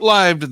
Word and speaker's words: lived: that that Trend short lived though it was note the proper pronunciation Liv um short lived though